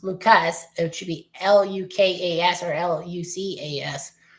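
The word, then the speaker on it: Lukes: I know his last name is spelled like Luke's, but it's Lucas.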